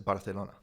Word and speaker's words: Barcelona: it's a Z is pronounced as a TH or Okay. a C followed by an I or E. Yeah. So like the C in Barcelona is Barcelona.